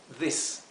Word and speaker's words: this: a ver por qué Aquí lo he transcrito con doble i a di porque quiero que se pronuncie como una I larga this Okay mientras que este es una I corta this por eso aquí lo transcribí en verde con una I y aquí con dos is Cuando tenemos la terminación